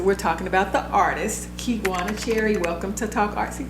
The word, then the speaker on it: Kigwana: And he pronounced it like Kigwana, like to make sure that I said the name right.